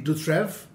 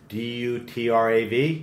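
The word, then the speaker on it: Dutraive: My favorite producer is Jean-Louis Dutrève. Dutrav? A-I-V-E. A-I-V-E. Yeah, Dutrève. This amazing human being, amazing guy in, okay.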